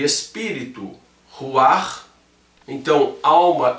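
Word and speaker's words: רוח: Nós sabemos que corpo em hebraico é guf, alma em hebraico é nefesh, espírito em hebraico é ruach, ou você pode pronunciar ainda ruach.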